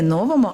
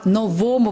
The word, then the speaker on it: новому: Тільки новому, не новому, а новому правописі. Адже наголос на слово на новий правопис.